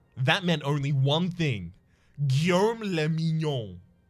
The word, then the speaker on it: Guillaume le Mignon: Guillaume le Mignon. If it doesn't rhyme, you're not pronouncing it right. Thank you. Guillaume le Mignon.